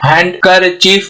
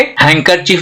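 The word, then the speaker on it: handkerchief: हैंडकरचीफ नहीं बोलेंगे। Okay, हैंकरचीफ बोलेंगे। यहाँ पे डी हो गया साइलेंट, यहाँ पे एन, डी और के तीनों क्या हो गया?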